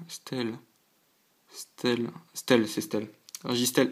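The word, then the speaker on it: Registeel: oublié mais je sais plus comment ça se prononce mince régisty Stelle Stell Stell c'est Stell registel X registel X donc la 81e sur 124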